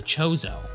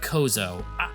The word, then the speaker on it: Chozo: some hints about the chozo or or is it Kozo I always pronounced it with a K like Chasm I don't know why